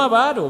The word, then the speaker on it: avaro: Es avaro, no avaro. Repítalo para aprenderlo bien. Avaro, ¿verdad? No tiene acento en la avaro.